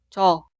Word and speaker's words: 저: Las dos sílabas suenan igual. 저, 처가.